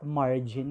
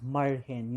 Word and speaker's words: Marhen: It's not margin kasi margin, it's Marhen yung pag-pronounce sa amin.